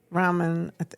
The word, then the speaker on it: Rahman: There was a report in Bridge Detroit Free Press and also the Free Press by Nusrat Rahman. Is that how you pronounce it? Rahman, yeah.